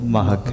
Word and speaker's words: مہک: ہے نا اس کا جو اصل تلفظ ہے وہ مہک ہے.